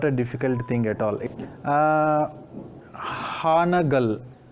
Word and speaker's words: Hanagal: For ha also we use a, for na also we use a. A plus a. For both pronunciations we use a only. Then we form the word Hanagal. Here you can find the vowel sound a as well as a. A represents both the vowel sounds a as well as a in Kannada.